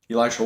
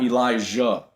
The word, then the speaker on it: Elisha: Elisha. People say my name wrong. Guys, by the way, my name's not Elisha. It's not Elijah. It's Elisha.